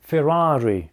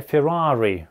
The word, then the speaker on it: Ferrari: Все эти автомобили — Ferrari, Lamborghini, Maserati — произносятся на итальянский манер. Следовательно, Ferrari, а не "Феррари", а именно Ferrari.